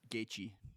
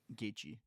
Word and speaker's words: Gaethje: How do you pronounce his name? Justin what? Gaethje. Gaethje? Gaethje.